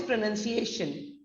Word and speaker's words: pronunciation: pronunciation now what is pronunciation pronunciation is crucial for confident communications is divided into five syllables it is pronunciation and not pronunciation it's a shun now different meanings different